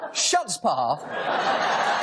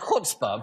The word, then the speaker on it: chutzpah: First of all, schutzpah is actually pronounced chutzpah, but the idea that